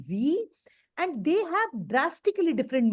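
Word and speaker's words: sie: this s i e s i e is pronounced as Z you can write z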